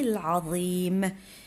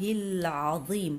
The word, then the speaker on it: العظيم: الألف ما غاديش نطقوه لأن هناك وصل، غادي نديرو حرف اللام نديرو لها سكون. سبحان الله العظيم العظيم، إذن هناك حرف